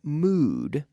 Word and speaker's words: mood: with the words but mood mood rhymes with food if you're hungry I